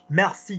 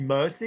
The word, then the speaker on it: merci: What? Mercy? Mercy? Merci. Thank you. Pronunciation. You'll need mercy if you pronounce it that way again. Merci de. Merci de, veuillez, je vous prie de. Merci. No, there's no such French word as there's no such French word as mercy.